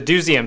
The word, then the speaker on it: Doozeum: That's how you say it, the Doozeum.